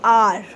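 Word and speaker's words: hour: Though this word R starts with H, and H is not a vowel, but H is silent in R, right? We say R.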